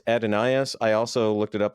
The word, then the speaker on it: Adonais: be he said it's not who Mourns for Adonis but he corrects the pronunciation he says it's who Mourns for adenaeus uh God Dana this is remember we had